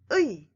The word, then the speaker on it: 의: The vowel 의 is also a diphthong, so it is very hard to pronounce. Think of the shout of Taekwondo. 의.